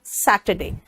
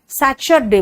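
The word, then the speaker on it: Saturday: है थर्सडे Friday and सैटरडे बेटा दिल्ली वाले सचर डे बोलते पता कहां से बल्ब को बल्लब बोलेंगे सैटरडे को सचर डे बोलेंगे और कहेंगे हम तो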